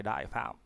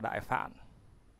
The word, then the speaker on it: Đại Phạm: Tay ấn của trời Đại Phạm cũng đọc là Đại Phạn, tức là Đại Phạn Thiên Vương.